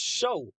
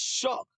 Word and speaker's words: Shough: I think that's how you say his name is Shuck. At first, I thought it was show, but it's Shuck. Like, all shucks.